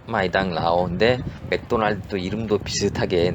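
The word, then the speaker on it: 麦当劳: 쓸 수가 없기 때문에 마이당 라오라고 쓰는데요. 맥도날드하고 이름이 마이당 라오 비슷하게 들리는데요.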